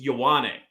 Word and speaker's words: Yawwan: to to him because I've been pronouncing his last name wrong, horribly wrong for most of his career. Wasn't even close. It's Yawwan. And I've been calling him like I own.